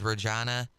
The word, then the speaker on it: Regina: town because it said Regina the town that rhymes with fun that's and it then